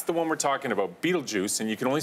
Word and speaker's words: Betelgeuse: because I wouldn't I'd I was like bed all gooey well some people say butyl boys or nothing I think okay